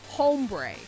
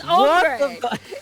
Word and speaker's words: ombre: __ ] household it's ombre it's ombre do not do not pronounce the h Moi does that and